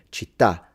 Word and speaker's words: città: Musica, politica, repubblica, matematica, la città. This one is a little difficult for my wife to say when she's learning Italian, because the words that have an accent at the end in Italian, like città, identità, società, we kind